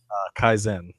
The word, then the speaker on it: Kaizen: Kaizen. Kaizen, which is that philosophy of incremental progress, and it's little increment.